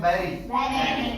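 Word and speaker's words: bury: देखो, B-U-R-Y, ठीक है, इसे पढ़ते हैं बैरी।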